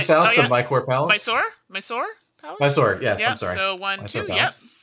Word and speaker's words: Mysore: Is that how you pronounce it? You're moving. I'm moving two south of my core palace. Mysore?